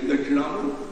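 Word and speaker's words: Dakshinamurti: I said, please tell me, Krishna plus Murti, how do you pronounce? He said, Krishna Murti. Then Dakshina plus Murti, how will you pronounce? It should be Dakshina Murti.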